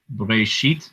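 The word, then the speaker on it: בראשית: Bereshit is how you say the name of the book of Genesis in Hebrew.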